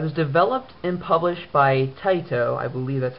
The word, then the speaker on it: Taito: It was developed and published by Taito, I believe that's how you pronounce it, which is a Square Enix company, and was released late last year in July.